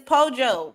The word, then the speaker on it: pollo: more time Fredo poo but it's not poo you said it's pojo po you can say poo